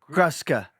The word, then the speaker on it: Gruska: a quick correction yes that Us in the middle of my name is pronounced us grusa grusa uh dud I've been